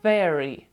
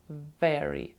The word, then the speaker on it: very: на початку very White буква V у передостанньому слові very завжди буде губа у нас заходити під верхні зуби і я говори very very а WH І взагалі